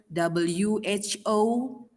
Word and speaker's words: who: As we know that when we look at the written WHO, and we have to say who. So which one? So where is W? W is silent.